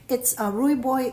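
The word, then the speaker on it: Rooibos: I could never figure out how to pronounce that tea, but it's Rui Boy is like a red tea.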